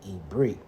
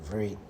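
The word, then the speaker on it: עברית: Or the proper term for Hebrew would be Ibrit, right? Or sometimes people say Ivrit.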